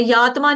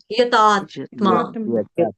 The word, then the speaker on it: यतात्मा: Skip कर दिया है यात्मा बोल दिया किसी ने यात्मा नहीं है यतात्मा यतात्मा किसी माता जी ने अभी यातमा बोला यातमा नहीं है यतात्मा त का खा लिया को मत खाइए।